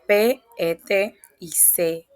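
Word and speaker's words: PET-CT: Antes de empezar, aclaro que se pronuncia Pet y C, letra por letra.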